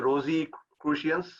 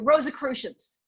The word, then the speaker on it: Rosicrucians: about uh more about this rose a rosie christians or uh how do you pronounce it and well i that was his spiritual path the rosicrucians okay was the questions okay the rosicrucians which uh frankly i